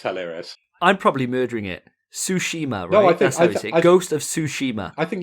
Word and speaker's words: Tsushima: about it it's hilarious i'm probably murdering it tsushima ghost of tsushima i think you've got it